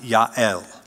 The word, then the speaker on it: Yael: That's how you would pronounce it, Yael.